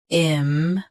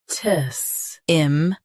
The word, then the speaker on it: impetus: IMPETUS. IMPETUS. Stress im, keep p soft and tus clear.